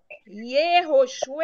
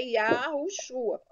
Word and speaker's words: Yahushua: Então, Yehoshua é errado. Na verdade, é Yahoshua. O nome certo é Yahushua.